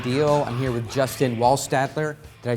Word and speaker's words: Wohlstadter: I'm here with Justin Wohlstadter. Did I say it correctly? Close enough. Wohlstadter, but close.